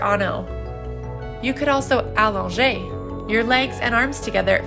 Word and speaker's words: allonger: Today, let's talk about allonger. Allonger means to elongate, and it is spelled A-L-L-O-N-G-E with an accent.